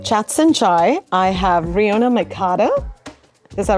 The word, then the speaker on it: Rionach McCarter: Hi everyone, I'm Jacqueline from Moksh, and today with me on Chats and Chai, I have Rionach McCarter. Is that right? Have I pronounced it correctly?